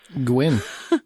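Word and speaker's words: Gwenn: As much as I like Tim Allen, I still think that Edmund, how do you pronounce his name? Gwynn.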